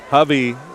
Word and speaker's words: Hubby: Hubby rhymes with Lovey, by the way.